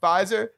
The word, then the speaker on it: Pfizer: You mean Pfizer? That's how the French say it. The you P guys, is silent.